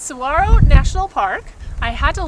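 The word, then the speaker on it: Saguaro: of Tucson that we enjoyed so much it's Saro National Park I had to learn how to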